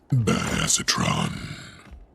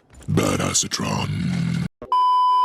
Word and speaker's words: Badassatron: It's pronounced Badassatron. In case you were wondering. Badassatron.